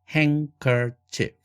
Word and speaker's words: handkerchief: 그래서 handkerchief 이렇게 발음되며 아예 사전에서도 발음 기호상 드가 날아간 것으로 표기가 됩니다.